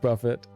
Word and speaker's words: Buffet: Dark Talons, Dragon Blood, Wing Buffet, pronounced Buffett. This This one's going to be uh I don't know about this name change, guys. Like, I know it's pronounced Buffett, but when you put